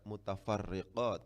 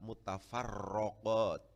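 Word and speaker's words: المتفرقات: Kenapa ini Ustadz kok kemudian dibaca mutafarriqat, kok enggak mutafarraqat? Tulisannya enggak ada harokatnya, Tapi kita bacanya al-mutafarriqat, bukan al-mutafarraqat.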